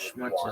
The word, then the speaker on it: Schmutz: mixture looks like Schmutz. blood, Schmutz is a big it's still one. going to be invalid. Schmutz is a Why?